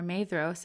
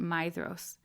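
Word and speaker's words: Maedhros: um as she shared the pronunciation guide in the back of the book actually confirmed that it is a my sound um so I just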